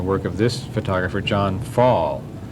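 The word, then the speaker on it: Pfahl: And that element is also present in the work of this photographer, John Fall. That's spelled P-F with a P in the German sense, P-F-A-H-L.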